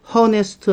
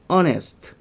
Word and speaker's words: honest: 자음으로 시작한 단어라 해도 그 자음이 발음이 안 나는 무음인 경우가 있었죠. Hest 아니고 honest how 아니고 our 요렇게요. 자 이렇게 자음이 발음이 안 나 그러면은 없는 거지. 발음이 기준이니까 발음 만나면 없는 거예요.